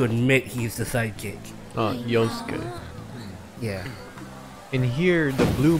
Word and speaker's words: Yosuke: Yeah, it's like a one syllable off, so you can understand my confusion and why sometimes they have the same syllables. It's just you instead of yo.